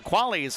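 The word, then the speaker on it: Quale: Again, the spelling between the two a little bit different. The Quali real estate instant replays KV A L E. Tessa Quali's last name spelled with a Q.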